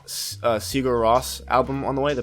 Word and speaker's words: Sigur Rós: That's what I got for Christmas, and so I have the I think it's pronounced Sigur Rós album on the way, the post-rock group from Iceland.